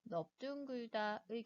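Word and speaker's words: 넓둥글다: 마찬가지로 동일한 널이라고 하는 어간이 사용되었지만 넙죽하다, 넙둥글다의 경우에는 리을이 아니라 비읍 대표음으로 발음을 하게 됩니다.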